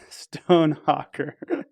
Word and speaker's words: Stonehocker: Today, our guest is Adam Stonehocker. Sorry, Adam. It's not that hard. I know. It sounds just like it's spelled.